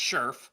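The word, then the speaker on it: Scherff: if we do get Brandon sherf it is pronounced sherf oh Sheri that's Sheriff okay Sheriff but I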